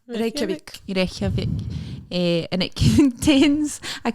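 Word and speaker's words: Reykjavík: Reykjavik. Reykjavik.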